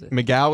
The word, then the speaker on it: McGough: Migaw is spelled MC G O U G H.